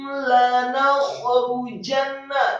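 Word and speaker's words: لَنَخْرُجَنَّ: La in ukhrijatum lanakhrujanna. Kata lanakhrujanna, khanya kembali serak yang sukun, kemudian lanakhrujanna, ra yang marfu atau dhammah tebal, kemudian jimnya fathah tebal, kemudian nunnya ditasydidkan.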